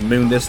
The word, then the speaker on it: Mundus: before he comment it yes I'm aware they pronounce it wrong it's Mund this in the original series but they call him Mundus so I'm going to